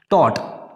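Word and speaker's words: taught: Spelling भी इसकी अच्छी तरह देख लीजिए, GHT है, लेकिन इसमें जो GH होता है वो साइलेंट होता है, इसको बोलते नहीं है, ये सिर्फ लिखते हैं, ठीक है।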